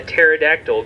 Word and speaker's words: pterodactyl: I'm having issues on Why can't you hear a pterodactyl go to the bathroom? Yo, what about that title slide? Why, Kaylin? All good. Because the P is silent.